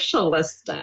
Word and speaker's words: Shalista: Should it be Shalista? It is Shalista. Oh, okay. Well, That's okay. You're in the 90th percentile of people that say it wrong, so it's okay.